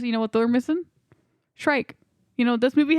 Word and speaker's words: Shrike: Shrike. You know what this movie has? Shrike. Shrike. Rules. Yeah. I love Shrike. He is. And no, he is we cool. don't. We're not mispronouncing Shrek.